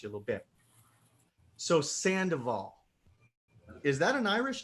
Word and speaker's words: Sandoval: So it's actually pronounced like Sandoval. Yeah, but I say it like a white guy from Wisconsin, so I say Sandoval.